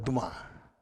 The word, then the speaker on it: Dumas: mundialmente conhecido chamado alexandre do mar alexandre do mar ou alexandre dumas como se escreve e o alexandre dumas